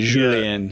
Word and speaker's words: Julien: You gotta roll the J. Julien.